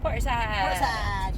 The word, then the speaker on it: Portishead: Portishead. You have to say it like that, it's the rules.